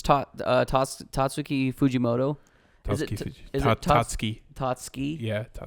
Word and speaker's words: Tatsuki: quickly said Tatsuki. Tatsuki. Yeah. So I don't emphasize the U.